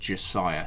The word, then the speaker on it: Mount Josiah: should I checked with Rockstar and it's actually pronounced Josiah.